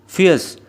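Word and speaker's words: fierce: फियर्स इसमें आर को silent रखना है प्रोनाउंस करते समय फियर्स।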